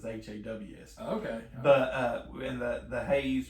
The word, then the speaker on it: Hase: Haws. Okay. Okay. And it's Hase, but it's pronounced as Haws.